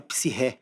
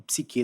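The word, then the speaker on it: ψυχή: na morte, a palavra lá é psirré, ou psique, dependendo da pronúncia que você adotar.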